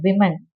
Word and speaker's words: women: Woman, no, you don't read it woman because when it is plural, we pronounce it as women. Okay, WOMAN is woman and WOMEN, it's women.